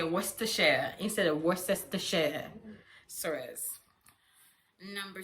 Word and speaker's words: Worcestershire: you will have is Worcestershire sauce. But the proper pronunciation of that word is Worcestershire. Worcestershire. You do not worry about the consonants and the vowel in the middle.